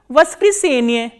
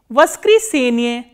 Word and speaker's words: воскресенье: And how do you pronounce this word? Voskresenye. Voskresenye.